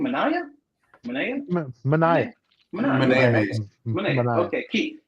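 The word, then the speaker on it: Manaea: Maniah. Maniah. Maniah. Maniah. Mania. We got Manaya who hurt his uh elbow.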